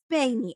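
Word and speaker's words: Spaeny: Oh, Spaney? Yeah. Spaney.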